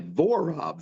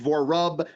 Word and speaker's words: Vorob: Vorob, Vorob. It sounds like, to me, it seems easy, but it's people. I've been Vorob, Vorub, Vorab.